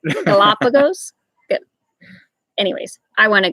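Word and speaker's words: Galápagos: Will we ever go to the Galapagos?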